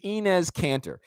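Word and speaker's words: Enes Kanter: to say his name right his name is inez cantor and inez cantor is probably my new favorite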